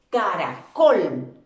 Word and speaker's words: caracol: Caracol lleva acento en la última sílaba, por eso se convierte en una palabra aguda, pero no va marcado gráficamente.